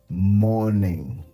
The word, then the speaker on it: morning: the first word morning now while pronouncing the word the r in the word remains silent we don't pronounce the letter R so we'll say it as morning as we can see